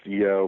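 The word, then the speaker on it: Yeo: And his associate's name it's pronounced Yo, but it's spelled Y-E-O, like Yo, but they pronounce it Yo.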